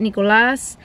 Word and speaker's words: Nicolás: So in Spanish, you say it Nicolás.